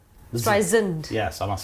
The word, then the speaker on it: Streisand: She says the second S in Streisand and not soft Z. Streisand.